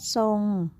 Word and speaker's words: ทรง: ว่า พุทรา ต้อง เรียน สังเกต เห็น ไหม คะ ว่า คำ ทุก คำ เนี่ย มี พยัญชนะ ทร ควบ กล้ำ อยู่ แต่ เวลา เรา อ่าน ออก เสียง อ่าน ออก เสียง เป็น เสียง ซอ ทุก คำ เลย ใช่ ไหม คะ